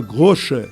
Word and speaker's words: Groche: Eu tenho um lado espanhol ainda, Godói, que não aparece e tem meu sobrenome, se escreve Groche, mas se pronuncia Grocha em alemão, né?